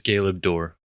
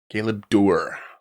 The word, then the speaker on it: Galeb Duhr: It is. Uh it is Gay Door. Galeb door. All right. emphasis on the door.